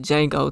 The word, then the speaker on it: Django: And I just thought, and Django spelled it right, and he said the D is silent.